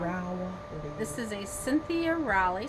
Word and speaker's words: Rowley: Rowley.